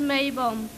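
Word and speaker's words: Maibaum: The Maypole, in German pronounced Maybaum.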